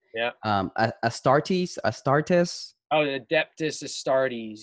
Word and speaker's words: Astartes: seen the youtube channel um and i might butcher the name yeah um astartes a startus oh the adept is astartes yeah astartes okay sorry so have you seen that youtube